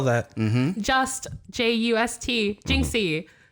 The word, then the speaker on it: Jinxie: spell that just j-u-s-t jinxie like minxy but with the j j-i-n-x-i-e it'll be there it'll